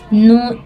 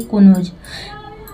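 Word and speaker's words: know: क्या के ठीक है यहां प नो पढ़ते हैं ना कि कोनो नोज पढ़ते हैं ठीक है नो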